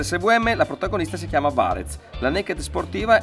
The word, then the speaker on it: Varez: teniamo sempre a ribadire, Varez è scritto ma si pronuncia in dialetto varesino Varez, per raccontare che siamo effettivamente italiani e dare importanza al territorio.